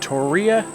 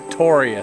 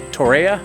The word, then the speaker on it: Torreya: Think about Tori spelling. Yeah, we learned that if you say Torreya, like I want to say, you will get slapped by people who know how to pronounce it correctly. They will slap that right out your mouth.